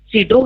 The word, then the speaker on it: pseudo: P means pseudo, here P is silent, and N means noise.